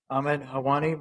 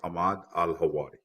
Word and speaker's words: Ahmad Al-Hawari: You might want to correct my pronunciation so I get it right. Yes, sir. Good afternoon. My name is Ahmad Al-Hawari.